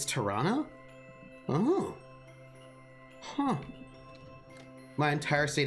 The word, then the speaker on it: Toronto: Like, you can tell someone is new if they pronounce the toe in Toronto. Really? It's Toronto?